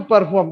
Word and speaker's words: perform: So perform, R is silent, therefore you pronounce perform, performer, performance.